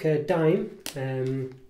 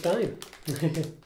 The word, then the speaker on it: Daim: They used to spell it D-I-M-E, and for some reason, probably to bring it in line to other countries, they've changed the spelling to Daim. But it's probably still pronounced Daim, actually, looking at it, but